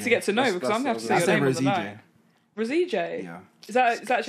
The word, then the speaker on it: Roseje: I'm gonna need to get to know because Rosie yeah is that that's how it's pronounced that's how I pronounce it I was born now so I called my dad Oscar okay Rosie all right so Connor Kelly if he's a